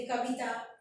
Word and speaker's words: कविता: कविता, वहां पे छोटी की मात्रा आती, कविता, कविता ऐसा नहीं बोलते, कविता ई की मात्रा है मगर छोटी ई की मात्रा है, जो ज्यादा दबती नहीं है, जिसका उच्चारण लंबा नहीं होता है, बड़ी ई की मात्रा के स्वर का उच्चारण लंबा होता है।